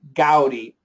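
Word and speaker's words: Gaudí: And it comes from Gaudi. So his name is actually Gaudi, but his style is gaudy.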